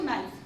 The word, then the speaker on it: knife: देखो आपने एक चीज नोट की है, यहाँ पे के के बाद में एन है और जहां पे भी के के बाद में एन होता है वहां के साइलेंट होता है। तो यहाँ हम के नहीं बोलेंगे, हम बोलेंगे इसको नाइफ, ठीक है।